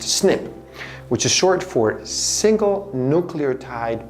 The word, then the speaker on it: SNP: Ben Lynch One of the most important pieces of the genetic puzzle is a type of variation known as a SNP (pronounced “snip”), which is short for single-nucleotide polymorphism.